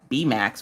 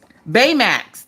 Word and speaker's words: Baymax: I just remember his name was, not B-Max. Was it B-Max? Oh, I don't know. It was, Baymax.